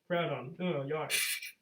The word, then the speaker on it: Groudon: me again with with group groudon groudon you got it it corrects oh well